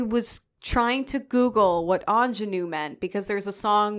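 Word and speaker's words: ingénue: think about it because it's spelled i n g n u e and then I'm like in in I'm like no that's Anu okay so for the other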